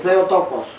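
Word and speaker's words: Theotokos: Se pronuncia así, se tocos, madre de Dios.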